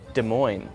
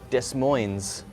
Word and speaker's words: Des Moines: Riviere so there's a city in America called Des Moines but it's spelled des mo i n es which looks like Des Moines but it's not said that way it's a